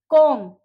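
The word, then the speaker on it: comb: तो उन बी को हम लोग साइलेंट वर्ड्स में साइलेंट बोलेंगे, उसको हम प्रोनाउंस नहीं करेंगे। बॉम्ब, कॉम, that, doubt.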